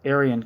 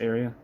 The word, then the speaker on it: Arian: years ago Catholic Christianity fought for Supremacy with Aryan Christianity what the is that or Ari in Christianity how am I saying this Aran oh it is pronounced Aran all right 1700 years ago Catholic Christianity fought